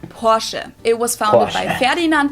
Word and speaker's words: Porsche: a name properly Porsche so there's like short a sound in the end Portia it was founded by